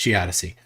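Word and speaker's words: geodesy: a slide for that, but that is how geodessi works. Yeah, it's gi semantics. If you don't have a response, that's cool. No, I'm just just just helping you out there. It's pronounced gdyssey.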